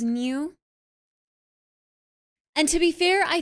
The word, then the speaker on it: Nyuu: Yeah, the Japanese sound is New.